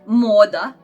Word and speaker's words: moda: Then we have Croatian letter M, like moda is Croatian word. Moda. Moda means fashion, and it is actually like M in the man.